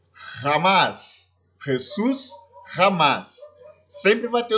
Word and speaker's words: jamás: Bom, la J, né, o J, terá sempre som de RR, como no exemplo Jesus, jamás, Jesus, jamás, sempre vai ter o som de RR.